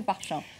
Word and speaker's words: Parchin: Alors, est-ce que vous pouvez nous dire pourquoi, c'est quoi cette base militaire de Parchin? Alors, la base militaire de Parchin ou Parchin, selon la façon dont on le prononce, ça pose problème parce